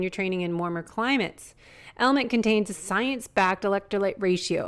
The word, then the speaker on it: LMNT: It's spelled LMNT, but pronounced Element.